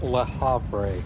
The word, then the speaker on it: Le Havre: I believe it's Le Havre. Utna Pishtim. I think it's French. Yeah, Le Havre, it's French.